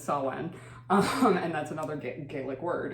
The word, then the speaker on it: Samhain: Because it's spelled Samhain. Yeah. Yeah, it's Samhain.